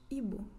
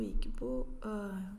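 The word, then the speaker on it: Igbo: E nós temos os Ibo, que é o grupo a que a Tika pertence, que é um grupo étnico majoritariamente cristão. Às vezes também é pronunciado Iqbo, podendo ou não ter esse G mudo, então.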